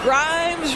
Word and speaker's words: Grimes: chance here for him Grimes rhymes with dimes on time right there